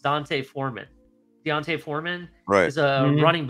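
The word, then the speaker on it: D'Onta Foreman: The reason I bring this up is because there's a guy named, and I believe it's pronounced Deontay Foreman.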